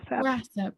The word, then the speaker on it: WRASAP: What is the best way to stay current with news from, and is it pronounced RASAP? RASAP, yes.